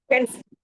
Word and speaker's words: pense: ওকে দেন পন্সে Pense.